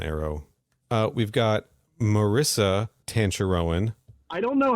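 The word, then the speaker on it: Tanchareun: everybody's been on arrow uh we've got marissa tantarowan i don't know how this is so complicated oh my god cancer rowan thank you for this gift marissa tancher rowan as khanna uh hanzo hasashi's wife uh marissa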